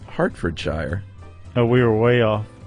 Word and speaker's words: Hertfordshire: Hertfordshire is pronounced Hartfordshire. Oh, we were way off. I admit it, it isn't spelled H-A-R-T, but then that is just the English language for you.